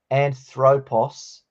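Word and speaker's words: ἄνθρωπος: the same but we're going to try and pronounce this as anthropos not anthropos just to help us spell it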